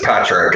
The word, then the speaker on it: Padraic: to the ceremony so we have is it padraig padre you can call it it's patrick it's oh that's a cool i always say